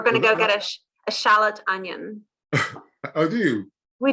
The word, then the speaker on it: Shalott: charlotte ladies a lot shallot so it'll be the same you have the slot onion uh you pronounce it exactly the same but it's spelt differently so the shallot onion